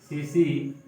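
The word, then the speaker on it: tsetse: सीसी टी इसमें silent है, टीसी मक्खी यानी सीसी मक्खी के काटने से सोने की बीमारी बहुत नींद के साथ बुखार।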